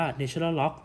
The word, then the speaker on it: ln: เป็น ลอการิทึม ฐาน ธรรมชาติ เรา ไม่ อ่าน ลอน กัน นะ ครับ เรา จะ อ่าน ว่า ใน ชนะ ล็อค หรือ ว่า ถ้า ใคร